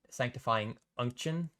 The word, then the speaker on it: Sanctifying Unction: But the new, I guess, items to talk about are the Sanctifying Essence and Sanctifying Unction.